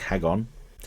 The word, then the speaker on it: Hakon: The captain of the Vikings, Hakon, pronounced like Hagon, from Gargoyles.